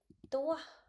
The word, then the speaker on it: toi: Okay, ये बन गया et toi. Et toi. Et toi. The sound of OI. The sound of OI it will be like वाह.